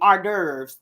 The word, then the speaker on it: hors d'oeuvres: Hors d'oeuvres.